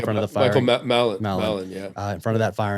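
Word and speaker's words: Mallin: And it's the passage from Ireland, where is Milan, is that how you say his name? In front of the firing? Michael Mallon, yeah.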